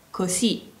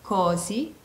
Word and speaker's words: così: roba del genere quando leggete la parola così vedrete che c'è un accento sulla i infatti anche quando parliamo dobbiamo mettere l'accento sulla i quindi diciamo così così e non cosi ma così così ora ascoltiamo il